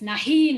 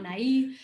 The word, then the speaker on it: nahi: up from my dad i do pronounce itches it's nahi not nai um and even with